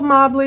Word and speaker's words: Mobley: Nicole Mobley was straight mobbing. That's how I remember how to pronounce Nicole's last name.